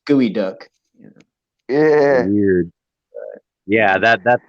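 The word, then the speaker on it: geoduck: time i saw this sign i was like geo duck and then they're like no it's pronounced gooey duck yeah weird yeah that that's the exact type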